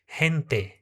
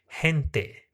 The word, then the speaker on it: gente: Então gente em espanhol nós vamos falar hente, tá? Tem esse H aspirado no lugar do G. Hente.